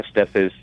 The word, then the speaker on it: Estep: You are. Estep is the way it's pronounced.